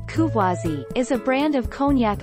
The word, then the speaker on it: Courvoisier: Courvoisier, French pronunciation, Courvoisier, is a brand of cognac owned by Beam Suntory, a subsidiary of Suntory Holdings of Osaka, Japan.